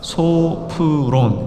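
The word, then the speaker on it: σώφρων: 소프론. 이게 이제 프가 F 발음이니까 소프론 이렇게 읽는 건데, 그냥 소프론 이렇게 읽으셔도 좋아요.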